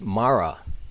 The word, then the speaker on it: Mara: thought of the title but the acronym is pronounced Mara M A R A and that's a name